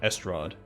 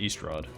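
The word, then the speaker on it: Estrod: with resolve alright so i've been pronouncing this wrong the whole time i've been calling it the tower of estrad not east rod i see then let's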